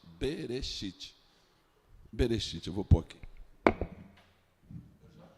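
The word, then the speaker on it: בראשית: Berechite. Bereite. Berechite.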